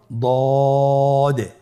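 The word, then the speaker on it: ض: দদ হরফটি উচ্চারণ করার সময় অবশ্যই 3 আলিফ টেনে পড়তে হবে। আপনারা আমার সাথে বলুন দদে। আবার বলুন দদে। আলহামদুলিল্লাহ, দদ হরফটিও মোটা হরফ, মোটা করে উচ্চারণ করতে হবে। দদের মাখরাজ জিহ্বার গোড়ার কিনারা সামনের উপরের 2 দাঁতের গোড়ার সঙ্গে লাগিয়ে উচ্চারিত হয়।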